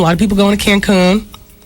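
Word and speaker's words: Cancún: A lot of people going to Cancun. Accent on the coon.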